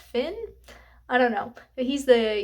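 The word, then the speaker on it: Fionn: but um it follows I pronounced it Finn it's spelled f i o NN which I like thought was like Fon or something but but then I looked it up and Google said it's just pronounced Finn I don't know he's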